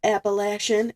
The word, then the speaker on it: Appalachian: Um, it's got beach, farmland, and mountains, which is part of the uh Appalachian, that's how it's pronounced.